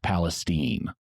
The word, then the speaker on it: Palestine: near where my family property is and yes Palestine Texas is pronounced Palestine that lasted for about two years Vernon also